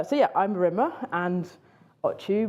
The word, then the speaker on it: Ochu: yeah I'm MMA and auu my surname is pronounced like a sneeze so auu and um you can